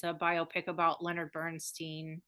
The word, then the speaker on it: Bernstein: Bradley Cooper made it's a biopic about Leonard Burnstein Bernstein Bernstein how do you say it Leonard Bernstein